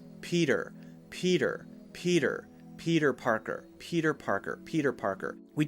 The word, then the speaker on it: Peter Parker: little more natural so if we say Peter Parker it sounds like we're trying too hard let's change the T to a light D sound Peter Peter Peter Peter Parker Peter Parker Peter Parker